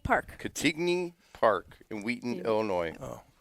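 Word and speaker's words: Cantigny: Catigny Park. Catigny Park in Wheaton, Illinois.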